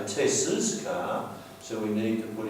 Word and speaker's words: Tess's: We don't say Tess' car, we say Tess's car.